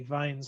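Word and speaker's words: Wien's: to go with it in the german pronunciation this would be vine's law all right so vines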